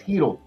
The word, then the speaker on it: Hedl: No, it's Hedl. Not Heel. Philip Hedl. It's spelled different. It's with a PH.